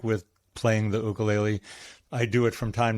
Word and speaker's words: ukulele: Or even more recently, I started playing the ukulele. I use the Hawaiian pronunciation for those of you that think I'm saying it weird.